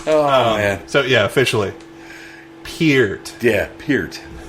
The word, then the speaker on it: Peart: Peart.